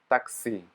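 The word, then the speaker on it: такси: this one taxi yeah so this backword n is pronounced as e taxi great our next letter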